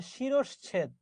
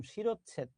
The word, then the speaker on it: শিরশ্ছেদ: আসলে শব্দটা হচ্ছে শিরশ্ছেদ। আমরা দেখবেন উচ্চারণ করি এরকম শিরচ্ছেদ, ভুল বলি। শব্দটা হচ্ছে শিরশ্ছেদ, শিরশ্ছেদ।